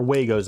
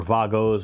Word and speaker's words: Wago: I know most of the English-speaking world, it's Wago, but I'm pretty sure the German pronunciation is Vago.